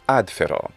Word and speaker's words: ad fero: the penultimate stress rule the penultimate syllable meaning the second to last syllable is fe and this syllable is it long or short how do we know well it doesn't have a long vowel and it doesn't end in a consonant therefore it is a short syllable and the stress will not fall here but on the previous syllable ad ferro seems like